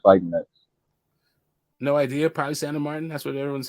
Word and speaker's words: Sandor Martin: Sandor Martin. You gotta say that. You gotta roll your R's. Roll your R's real quick.